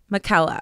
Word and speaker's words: McKella: It's pronounced McKella. McKella. Rhymes with Nutella.